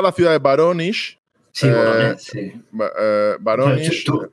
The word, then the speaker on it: Voronezh: Sí, Voronezh, sí. Voronezh. Tú que has estado allí, seguro que lo pronuncias mejor que yo. Sí, bueno, ellos pronuncian Voronezh. Voronezh.